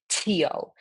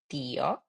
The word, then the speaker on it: tío: Remember, the pronunciation for the T is super soft. So you don't say tío or tía. You say tío, tía.